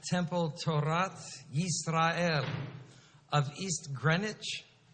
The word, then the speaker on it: Greenwich: torats Israel of East Greenwich we don't pronounce the w East Greenwich Rhode Island